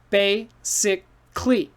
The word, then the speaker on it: basically: finished right but basically it's hard to say so we say basically basically so four sounds goes down to one and what happened this a disappeared basically basically say it with